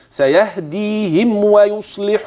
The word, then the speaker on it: سيهديهم ويصلح: انتبه مره ثانيه هكذا سيهديهم ويصلح بالهم ماذا لاحظت لاحظت اطباق الشفتين جيدا قبل النطق بالواو ولاحظت انه لا غنه فيها واضحه هكذا سيهديهم ويصلح اذا